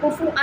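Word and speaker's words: كُفْئًا: تیسری قرات بھی ہے، اس کا تلفظ ہے کف، فا پر سکون ہے، ٹھیک ہے، اور اس کے بعد احد، ان احد، حمزہ پر 2 زبر ہے، کاف، کف پر سکون، حمزہ پر 2 زبر، کف ان احد، ہاں ہاں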